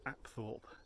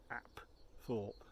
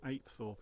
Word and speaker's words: Apethorpe: not Thorpe at all its app thought app thought I guess that really just didn't want to be called Apes or referred to as Apes so it's not eight Thorpe even though it's spelt I thought its absol and I'd